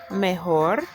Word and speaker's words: mejor: And notice we pronounce M-E-J-O-R as mejor because the J makes a H sound.